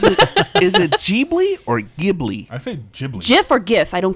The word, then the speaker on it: Ghibli: cuz I always had I always say Ghibli yeah that's what I say as well am I saying it wrong jibley okay like official pronunciation but I don't care